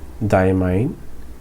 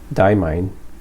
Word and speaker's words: Diamine: I think it's pronounced as Diamine because there is an E at the end of this word, which renders this I to be pronounced as the way it is pronounced when you pronounce that alphabet. So I is pronounced I, so mine should be pronounced mine because of the E behind.